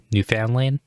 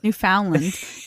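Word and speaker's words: Newfoundland: it you were like New Foundland you just like went on about it but the first way you said it you were like new found land you like made it three separate entities I was like I'm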